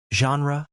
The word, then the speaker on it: genre: genre, boulevard, ballet, and museum. Genre is pronounced slash. That g sounds like the s in measure. It's from French, so it can be a bit tricky.